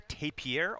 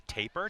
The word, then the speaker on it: tapir: Target number 3 is going to be the tapir or the taper, depends on how you pronounce it.